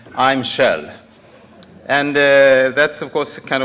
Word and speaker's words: Kjell: Well, some people has problem with pronouncing my first name, and I used to say, if you can pronounce that oil company's name, then you can pronounce my name. I'm Kjell.